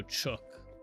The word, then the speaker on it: chook: Reminder to the Nate that just read that it's pronounced like book. Oh, chook. A box of chook. Not like ch.